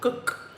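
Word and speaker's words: Gull: I grabbed the light version of the, how do you pronounce that? Gok. Gok. Not gall.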